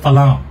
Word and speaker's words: falam: এটা হচ্ছে আপনার FALAM, বাট এই এমটা এম এর মতো উচ্চারণ হবে না, এলেস ফালাও।